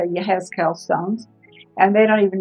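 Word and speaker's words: יחזקאל: I forgot how to say it in Hebrew, and it's Yehezkel.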